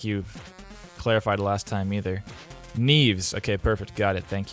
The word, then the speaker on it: Neves: Neve? Like Neve, but with an S. Is it a voiced S? Neves or Neves? So good. Neves. I'm going with Neves. Like Keanu? Like rhymes with Keanu?